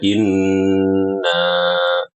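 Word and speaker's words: إنّ: Di situ ada nun bertasydid yang seringki dilalaikan ya. Yang seringki di dilalaikan. Orang-orang bacanya inna inna inna harusnya ya di sini adalah ghunah yang mutawwalah, ghunah yang dipanjangkan ya. gunah yang akmal takun yang paling sempurna sehingga kita harus bersabar dalam membacanya. Inna seperti itu.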